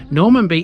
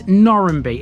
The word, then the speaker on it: Normanby: differently given its etymology normanbee is theoretically the correct way but this is lincolnshire we're not a simple bunch locals call this normby effectively reversing the a and the m in the name it even has variations